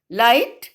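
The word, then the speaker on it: light: Then next one, लाइट में भी GH is silent letters. GH की साउंड नहीं आ रही है. लाइट एंड इन लाइटर also GH is silent.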